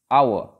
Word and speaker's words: hour: Similarly, the next word, hour. We are writing HOUR, where H is silent, and the sound that begins A.